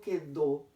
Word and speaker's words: quedó: Ya hemos dicho que cuando digo quedó, el fonema en quedó sería simplemente así, que. No estoy pronunciando la U, de tal manera que tampoco hay diptongo. No hay diptongo, no hay diptongo.